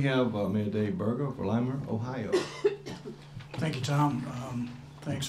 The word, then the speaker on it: Lima: Next, we have Mayor Dave Berger of Lima, Ohio. Thank you, Tom. Thanks for properly pronouncing our name.